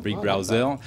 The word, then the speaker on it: Big Browser: called Big browser which if you pronounce it in French actually sounds like Big Brother Big Brother Big Brower and so it's a